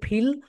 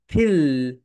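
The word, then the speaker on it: feel: অর্থ রয়েছে আমরা আগে ফিল ওয়ার্ডটা রাইট প্রোনাউন্সিয়েশন করি বল ফিল ফিল মনে আছে যখন তোমরা এফ উচ্চারণ করবে উপরের দাঁত নিচের ঠোটের সঙ্গে টাচ করবে উপরের দাঁত নিচের ঠোঁটের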